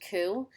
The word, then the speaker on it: coup: be familiar with is the word coup um that's this word right here c-o-u-p pronounced ku a sudden violent and